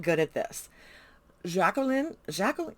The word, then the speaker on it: Jacqueline: Jacqueline, you had to pronounce the Q. Her mother was very specific about having to pronounce the Q. It's not Jacqueline, it's Jacqueline.